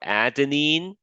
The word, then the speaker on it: adenine: Now, the adenine, which is what the A stands for, adenine and guanine, that's how you pronounce these things.